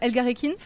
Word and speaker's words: Elgarekin: Oui, super, merci beaucoup de m'accueillir sur ta ferme, la ferme Elgarekin, c'est comme oui, ça qu'on dit ? Oui, c'est ça, bien prononcé.